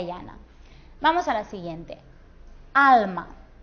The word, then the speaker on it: alma: Alma. Decimos alma, no decimos alma. Así que la sílaba tónica será esta, la penúltima.